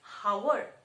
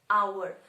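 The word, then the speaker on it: hour: now if i say how would you pronounce this h-o-u-r are we pronouncing it as howard no we are not pronouncing it as howard we pronounce it as our so when we are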